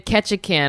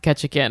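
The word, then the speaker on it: Ketchikan: Let me look at the map of Ketchacan. I feel like Ketchan. Yeah. Are you looking at Ketchacan? It's called It's It's spelled like ketchup but but not ketchup, right?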